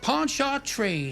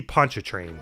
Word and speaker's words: Pontchartrain: He's got a heart as big as Lake Pontchartrain. Here's another pronunciation butchering. I believe it's supposed to be Pontchartrain.